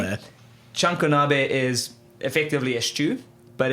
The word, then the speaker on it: chanko nabe: It's called chanko nabe. Oh, okay. Big fan of chunk being the first Absolutely. syllable there. Chunkonabe is effectively a stew, but it is massively